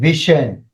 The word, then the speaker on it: vision: මේ word එක pronounce කරන්න. Shan, vision.